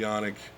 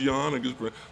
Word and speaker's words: Canik: uh review on the yannick or you know i'm sure some might be in the comments but like it's not pronounced yawning well look buddy i'm